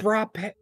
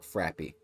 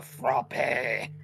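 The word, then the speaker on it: frappé: It's a goddamn French word, you dipshit. I only hear people call it, including people that work there, call it Frappy. Well, those people are fucking Virginians. Do you think they're going to pronounce French words correctly?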